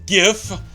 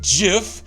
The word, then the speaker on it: GIF: naturally aluminum gif and it's gif not jiff I don't care what the creator of gif says it's pronounced like cuz it stands for graphical interface you you've heard this rant it's not Jeff damn it it's gift first it's an acronym all right I've made